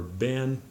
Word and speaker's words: been: you to know than even in America it's pronounced like this I have never been to Great Britain or I have never been